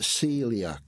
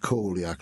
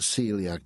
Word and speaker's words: coeliac: yeah now it's um it's pronounced celiac disease uh and it looks like coliac like sebco c o e l i a c but it's pronounced celiac disease and um I'm